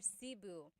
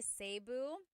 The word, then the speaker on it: Cebu: So, technically in the Tagalog alphabet, the letter E can be pronounced E or E, like the letter I. So, I say Cu. Cebu. And I know some people say Sabu, but usually it's either Cu or Sebu.